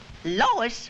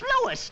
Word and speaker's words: Louis: Lois? Me name is Louis, not Lois. Chief Whiz, everybody interpolates me name wrong. It's Louis. L-O-U-I-S.